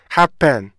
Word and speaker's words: happen: 그렇기 때문에 앞부분에 강세를 주고 뒷부분에 강세를 안 주면은요. happen 이렇게 소리가 변하게 되는 거죠.